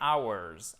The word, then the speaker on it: hours: Alors, il n'y a pas de H. On ne le prononce pas. C'est un des rares mots qui commence par un H pour lequel en anglais, on ne prononce pas le H, OK? C'est hours, hours. Exactement, c'est exactement la même prononciation que celui-ci.